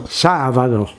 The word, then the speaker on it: sábado: It's also Sábado for them, but the Spanish pronounce the B almost like a V, so Sábado.